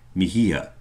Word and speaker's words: Mija: You are poetic, Mihia." "What's Mija?" "Mihia," he pronounced it slowly.